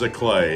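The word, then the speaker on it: giclée: no g i c l e e it's pronounced as a clay it means fake so if you ever see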